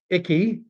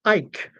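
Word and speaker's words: Icke: Uh, and oh, of course, Danny's giving me a icky is how I'm pronouncing it. He is saying that it's pronounced Ike, as in I can Tina Turner.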